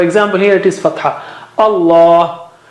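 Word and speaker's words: الله: Allah, it is the thickest letter, and after that comes sad, dha, ta, za, and so on. So Allah, the lam of Allah, the word Allah is thickest. Allah. You don't say Allah. Don't say Allah. Allah, like that.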